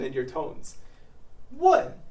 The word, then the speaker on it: 问: 问 is a fourth tone, and it means to ask. Look at the character to ask. 问, third tone, means something entirely different. To kiss.